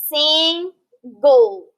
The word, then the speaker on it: single: Now notice this word when we read it, single. That G is very, we pronounce it. It's called a hard G, goal, okay?